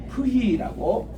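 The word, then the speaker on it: φι: 그 다음 이제 마지막 넉자가 남았는데 이게 이제 프히라고 읽겠습니다.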